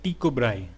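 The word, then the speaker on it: Tycho Brahe: ठीक है, उसके बाद जो नाम आता है वो आता है टाइको ब्राहे। ठीक है, इसको अगर हम दानिश में प्रोनाउंस करेंगे तो ये है टीको ब्राहे।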